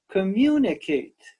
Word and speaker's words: communicate: here's our first word communicate communicate four syllables communicate communicate and the accent is on the second syllable can you see that